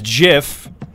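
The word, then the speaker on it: GIF: sure and graphics card the creator of Graphics interchange format specifically said it was JF and there's no other correct way to pronounce it and then he [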